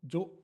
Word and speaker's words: Zhou: Yeah, and then he told me, yeah, because like this Chow, this is like the Cantonese pronunciation of this name. And apparently, Chow was actually called Zhou. And we have been mispronouncing him all the time because apparently he went